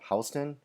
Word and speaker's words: Houston: doesn't that word look like Houston instead of Houston well it is actually pronounced Houston so just okay somebody asks now